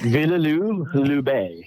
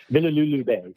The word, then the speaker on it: Villers-le-Bel: Villers-le-Bel. Okay. Wonderful. Villers-le-Bel. Yeah, I'll send it to you. Yeah, Villers-le-Bel. And it won't look anything like it's spelled.